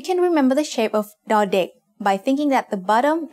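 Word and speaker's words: ด: consonant of a syllable dardik makes the sound the just like the letter d in diamond now they also makes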